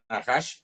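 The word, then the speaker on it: נחש: El Num, esta es la N nuestra, ¿verdad? La Het es una G pero gutural, y la Shin, que es SH, ¿verdad? Y las vocales no se escriben. Si pongo la vocal aquí, vean, dice Nahash, clarito, ¿verdad?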